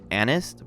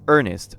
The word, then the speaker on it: Ernest: the deer's name is Anest because that's how the translations were spelling it. But the true way to say his name is Ernest, a mistake that the new translators actually fixed in the scan.